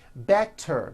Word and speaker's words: better: So if a letter T falls between 2 vowel sounds, which are voiced, so if it falls in the middle of vowels, then the T is pronounced as a D and the whole word is voiced.